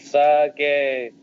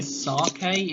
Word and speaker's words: sake: Chop it, sippy sake.